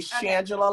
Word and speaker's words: Shangela: you're totally fine baby shangela like angela with an sh shandong sanjay look see